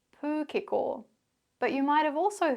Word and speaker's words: pūkeko: Well, what you can see or hear in these examples is both the Māori pronunciation, pūkeko, manuka, kōwhai, pōhutukawa, tarakihi, and the anglicised version, pūkeko, manuka, kowai, pahurakawa, teraki.